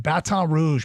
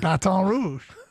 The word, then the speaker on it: Baton Rouge: Arbor I'd booked two rooms hotel rooms in Baton Rouge back in the summer flights into Baton Rouge